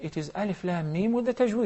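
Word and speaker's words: الم: not pronounce them rather we pronounce their names what difference does it make Mustafa if I pronounce their name we will say Alif LAAM Meem but if it is the world first one I'm going to say LM there was an Islamic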